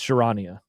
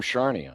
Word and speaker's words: Charania: Yeah, it's Sharania. I thought it was Sham Sharnia.